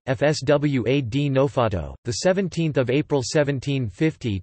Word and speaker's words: François de Neufchâteau: Nicolas Louis François de Neufchâteau, French pronunciation FSWA de Neufchâteau, the 17th of April 1750 to the 10th of January 1828 was a French statesman, poet, and scientist.